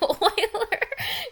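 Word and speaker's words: Euler: positive integer Solutions you Oiler you're so mean Oilers say pronounced Oiler you're right Oilers yes yes theorum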